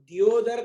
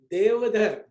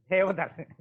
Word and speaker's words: Deodhar: నా పేరు దియోదర్ కాదు, దేవధర్. Devadar.